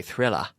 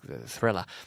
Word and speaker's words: thriller: even in a Britain British English they'd say thriller that sounded a that the British parents the are at the end of word like an a like we're like thriller so this was called